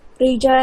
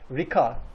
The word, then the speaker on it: Rica: at the same time, in Turkish, when we see a C. yes, when we see a letter, we pronounce it as it is, and it is J sound. Rica. Rica. Rica ederim. Yes. The most common mistake from the foreign speakers is that Rika. It's not Rika.